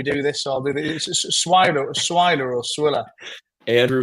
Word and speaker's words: Swiler: name before we do this so I'll do swier swiler or swier Andrew swiler yeah yeah yeah swiler smer right we can't do retakes when we're